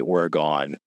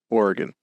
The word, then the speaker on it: Oregon: For those who don't know, it is in fact pronounced Oregon. Yeah. Uh, but the cron pronounce it like you're in a rush is what I like to say.